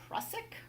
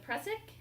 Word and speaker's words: Prusik: The next one is the Prusik or Prusik. How Great. do you pronounce that knot?